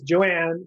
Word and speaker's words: Johanne: joining us it's it's Joanne in the H is silent so I'm glad we